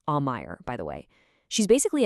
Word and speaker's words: Aumaier: That's pronounced Aumaier, by the way.